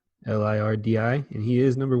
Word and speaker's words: Gagliardi: It's Gallardi. Nope, Gagliardi. I do see that extra G in there, so It's pronounced I do wonder Gallardi.